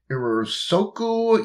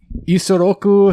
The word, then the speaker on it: Isoroku: Because Irisoku Yamamoto. Can you give me an accent on that? Oh. Can you help me pronounce his name?